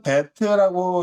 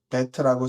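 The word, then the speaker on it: בית: 그다음에 두 번째는 배트라고 읽고요. 쓸 때는 이렇게 씁니다. 이렇게 배트라고 쓰고 음가는 비읍이죠.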